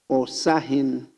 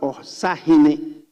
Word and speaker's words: Osahin: So he has put there Osahin. It's not Osahine. It's different pronunciation. It's Osahin. There is no hine.